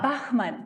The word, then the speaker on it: Bachmann: Ah, Bachmann.